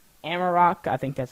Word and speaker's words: Amarok: Amarok, I think that's how you say it, is the default KDE audio player.